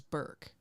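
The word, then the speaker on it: Ray Bourque: for that trivia was Ray Bor that was the answer I wanted rayor is that how you pronounce it because I was always told it was Burke Ray Bor oh ladies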